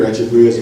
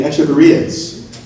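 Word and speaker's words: Echeveria: Now we're getting the Echeverrias. That's generally how most people pronounce it. Some people use the K sound, Echeverria, but Echeverria I think is the more common pronunciation.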